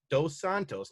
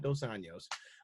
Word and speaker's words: dos Santos: is gonna win dosan dos santos not dosanos uh dos santos is